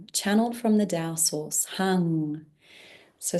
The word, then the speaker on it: Heng: Heng is the Tao sound power, channeled from the Tao source, Heng. So spelt H-E-N-G, but pronounced like a U-N-G.